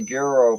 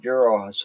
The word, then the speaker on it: gyro: It's a gyro place called Gyro's House. It's gyro. You Whatever. don't pronounce it gyro.